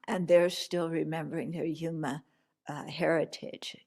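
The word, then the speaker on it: Juma: Yeah, and they're still remembering their Yuma heritage. Yuma is spelled J-U-M-A.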